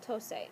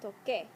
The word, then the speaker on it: toqué: be like that, but we would pronounce that tose, and Spanish just doesn't allow you to do that. So we change the C to a Q, put in a U, and keep the E. Yo toqué.